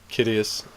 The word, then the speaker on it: Kidius: Kidius to rhyme with Sidious.